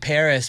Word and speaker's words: PVRIS: The band Paris with a V, remember that?